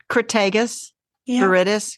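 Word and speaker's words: Crataegus viridis: Because I don't want to pronounce that word. it's Crataegus, Yeah. viridis, green hawthorn.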